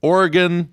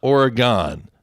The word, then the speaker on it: Oregon: It's Oregon, not Oregon, all right?